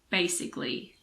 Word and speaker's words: basically: ideally generally vocally so this rule just applies to words that end in i c a l y like basically or specifically now let's look at